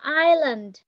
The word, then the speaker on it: island: Bây giờ mặc dù nó có chữ E và chữ S, nhưng mà trong cái âm mình đọc là Island. Nó có chữ S nào không? Không có nha. Viết thì có, nhưng mà đọc thì không có.